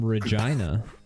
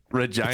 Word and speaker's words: Regina: I can't believe they pronounced that the name Reginina. Regina like a Seinfeld episode.